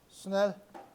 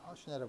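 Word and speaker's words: Snell: 그래서 굴절의 법칙은 혹은 처음에 발견한 스넬 슈넬이지만 독일 사람이라 슈넬이라고 발음을 하죠 슈넬 법칙 n 요에 굴절율이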